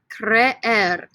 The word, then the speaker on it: creer: The verb is creer. This one's kind of weird because there's two E's right next to each other. Repeat after me. Creer, creer, creer. You pronounce both E's, okay?